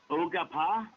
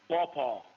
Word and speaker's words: Quapaw: And we have Earl Hatley from the Ogapa, right? Correct me if I'm wrong. How do you say that, Sean? Quapaw.